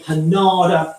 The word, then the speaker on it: panada: Sounds like panda, and it's spelled very like panda, actually, but it's a panada sauce.